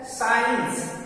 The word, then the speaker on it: science: जैसे है साइंस, SCIENCE, तो यहाँ एस के बाद आया है, इसलिए यहाँ सी साइलेंट है।